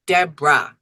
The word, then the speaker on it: Deborah: my name debor and it's not three syllables it's two debah D EB r a